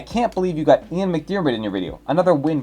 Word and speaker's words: McDiarmid: It's McDiarmid.